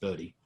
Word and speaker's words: Bode: do it quickly by hand is called a body plot even though it's spelt bowed it's pronounced bodhi and i'll give you an example of a